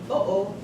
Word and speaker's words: uh-oh: So if you were to say, like, uh-oh, did you hear that there was a distinct separation between the 2 O's? Uh-oh, uh-oh, uh-oh. That's what a glottal stop is.